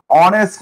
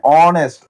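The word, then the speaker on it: honest: historian historian এই যে হি মানে হ আসতেছে তাহলে আমাদের এ দিতে হবে অনেস্ট ম্যান অনেস্ট অনেস্ট অ মানে কি শুরুতে কি উচ্চারণ হচ্ছে অ উচ্চারণ হচ্ছে আর আমরা তো জানি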